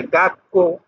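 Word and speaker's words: 学校: ছোট করে থাকলে পরের বর্ণটা দুইবার উচ্চারণ হয়। যেমন আমরা বাংলায় উচ্চারণ করি ধাক্কা। ধাক্কা, কয় কয় আকার, ধাক্কা। সক্কা, কয় কয় আকার, সক্কা। সেম এরকমই এখানেও। এটা হলো গা আর এটা হলো কো, তাহলে এটা কোটা দুইবার উচ্চারণ হবে, গাক্কো।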